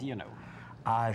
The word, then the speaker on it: Dionot: I was just asking the official family pronunciation of his name, because sometimes people anglicize the names, and you didn't. Dionot. Dionot.